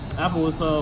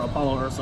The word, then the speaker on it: Apollo Ursa: Appaloosa, or Apollo Ursa as it's supposed to be pronounced, but Konami fucked up that translation.